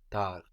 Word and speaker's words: tard: Late in French is tar tar tar and this is spelled t a r d so the final consonant in French as we have been seeing is rarely pronounced t a r d